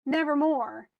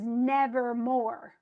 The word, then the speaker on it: nevermore: Like nevermore is nevermore. And so it's stressed, unstressed, stressed. Nevermore.